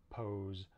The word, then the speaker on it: pose: And there's also some words that end S-E, where it's actually a Z sound, like rise, pose, and confuse.